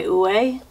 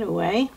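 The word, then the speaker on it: Ouai: and this is by ue it's spelled o-u-a-i i believe that's how you say it away this is almost full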